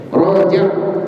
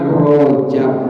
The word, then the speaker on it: Rajab: Rajab, ro fathah apa? Ro, nggak ada. Ro fathah re, nggak ada. Ro fathah ro, kan kaidahnya jelas. Roni rubar ruror roni rorna minal murni mariror roni ro jelas. Ro fathah ro, bukan Rojab, bukan bulan apa?